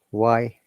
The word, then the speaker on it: why: Why haven't I done it? Not why I haven't done it. It should always remember why haven't I? Okay, why haven't I? Not why, yeah? H is silent.